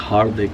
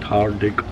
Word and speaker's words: हार्दिक: मैं बोला my name is हार्दिक, नॉट हार्दिक। थोड़ा मेरा नाम फनी भी है।